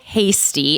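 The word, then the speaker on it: Heastie: All you are going to do is call speaker Carl Hasty. It's pronounced hasty but it's spelled h e a s t i e.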